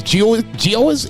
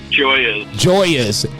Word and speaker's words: Gio's: The sandwich place, Gio's? Am I pronouncing that right? Joya's.